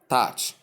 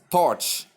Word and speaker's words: touch: We pronounce it as touch.